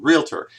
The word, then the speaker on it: realtor: I keep saying realtor, but and that's one thing we've got to pronounce correctly too. Realtor, not realtor. I've always been accustomed to saying realtor with the it in there, and there's no it.